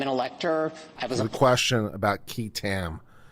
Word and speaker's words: qui tam: The question about qui tam. It's spelled Q-U-I-T-A-M.